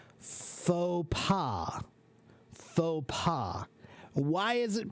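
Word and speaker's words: faux pas: It's pronounced phopa. Phaua. Why is it pronounced phaua? Because that word is French. So it doesn't follow standard English rules of pronunciation. It's not fals.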